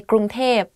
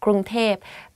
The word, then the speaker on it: กรุงเทพ: hear people talk about Bangkok, they will say ก รุ ง เ ท พ because like conversation wise, it's easier to pronounce like that, ก รุ ง เ ท พ .